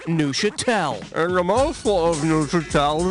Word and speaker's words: Neuchâtel: The cheese is pronounced Neuchâtel.